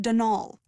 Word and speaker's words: Donal: There's no D at the end, so it's pronounced Dol.